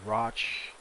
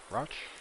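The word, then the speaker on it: Rauch: then we got the the roch axis i think they pronounce it rosh um 50.1 so maybe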